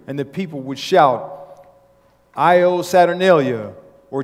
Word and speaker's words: Io: Saturnalia's festival of lights was the celebration of the coming new year, and the people would shout, Io Saturnalia, or chant in syllables, short I, long O.